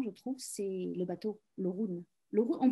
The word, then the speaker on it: Orun: Et il y a aussi un personnage qui est très important, je trouve, c'est le bateau, l'Orun. On prononce l'Orun?